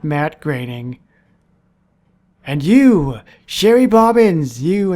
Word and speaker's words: Groening: It's Groening. Indeed it is, not greening or groaning.